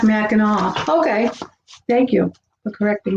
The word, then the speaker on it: Mackinac: so where it was the island is pronounced with a w sound what island is the